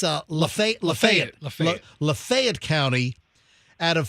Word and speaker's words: Lafayette: to how do you say it it's uh Lafayette Lafayette Lafayette County out of 4 456 customers